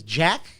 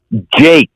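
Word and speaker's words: Jakes: did you say rob his name is jack jake jake like j-a-k-e-s yeah well tell him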